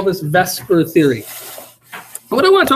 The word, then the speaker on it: VSEPR: a move that makes exactly no sense we pronounce that matter all right we call this Vesper theory what I want to talk about is